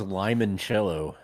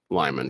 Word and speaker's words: limoncello: is limoncello limoncello like like the liqueur oh I don't I thought it was Lyman because it's spelled with an eye what it's referencing